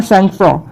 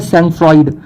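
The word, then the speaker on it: sang-froid: फिर आता है सैंगफ्रॉ. सैंगफ्रॉ मतलब होता है, अब कई लोग इसको प्रोनाउंशिएट करते हैं सैंगफ्रॉइड, तो सैंगफ्रॉइड नहीं इसका प्रोनाउंसिएशन है, इसका राइट प्रोनाउंसिएशन है सैंगफ्रॉ, क्योंकि एक फ्रेंच वर्ड होता है.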